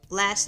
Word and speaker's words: Elay: It's me, LA, pronounced like LA like the city.